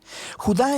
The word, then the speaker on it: Judá: la carta de Judas o más precisamente Judá de acuerdo con la pronunciación de su nombre tanto en griego como en hebreo Judá Era uno de los